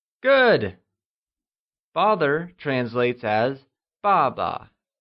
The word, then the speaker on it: 爸爸: Father translates as 爸爸, and is pronounced using the falling tone. Can you try and say 爸爸?